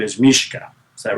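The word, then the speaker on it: Mischa: Russian name is Mishka. Is that right? Misha? Uh It's Mishka. Cuz the c h is a hard c h like in my name. So, that's Mishka.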